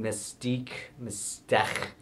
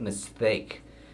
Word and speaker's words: MSTHK: the h in msthk or how everyone was pronouncing it mystique apparently i was wrong on it i went with mistake like mistake but with the uh speech impediment